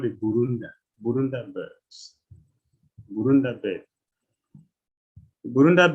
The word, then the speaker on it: Burunda: The spelling is as the pronunciation. Burunda, B-U-R-U-N-D-A.